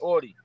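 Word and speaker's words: Auty: I got my artist, Tsunami Audie.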